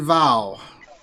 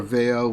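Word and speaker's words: Vao: Mission Vow. Or Veo, Vow. I always said Vow. It's pronounced Veo.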